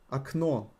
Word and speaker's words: окно: Окно, окна. Окно, окна. Or if you pronounce it the way it's written, окно, окна, окно, окна. Absolutely fine, people will understand you.